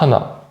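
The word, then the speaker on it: 한: Là, ici, pour hana, on n'aura pas hana, mais je vais l'écrire en noir. Han, par exemple l'heure, hanshi, hanshi, une heure.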